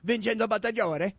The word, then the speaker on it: Vincenzo Bonsignore: Vinny Bonsignore. Okay. Yes, but I, Beto, Great guy. I prefer to use the real Italian pronunciation, which is Vincenzo Bonsignore.